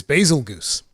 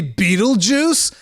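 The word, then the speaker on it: Bazelgeuse: an idiot okay so my pronunciation of my favorite monster is basil goose i've always called it basil goose and people would call me an idiot they'd be like are you stupid don't you know it's pronounced like the star beetlejuice don't you know it's supposed to be beetlejuice i've seen this comment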